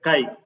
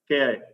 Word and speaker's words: chi: CHI, chi, Ki. You need to pronounce that as chi-square, Ki.